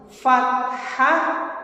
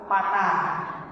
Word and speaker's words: fathah: 2 harokat itu pertama fathah bertemu alif. Apa Bu kemarin pengucapannya gimana? Fathah. Jangan ada lagi istilah patah. Ulah patah deh. Patah bertemu alif. Kalau biasanya gitu. Patah bertemu alif. Fathah bertemu alif.